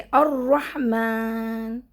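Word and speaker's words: الرحمن: अभी देखिए अर रहमान लहुर रहमान है ना? अल बीच में से दोनों भी प्रोनाउंस नहीं होगा। साइलेंट हो जाएंगे।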